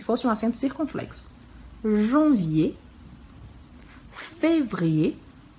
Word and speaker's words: février: Janvier, février, o E bem pronunciado no início porque tem um acento agudo.